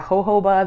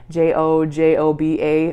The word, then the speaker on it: jojoba: And then the two kind of like queens of facial oils are jojoba, the J-O-J-O-B-A, jojoba is how it's pronounced, jojoba oil, and then also argan oil.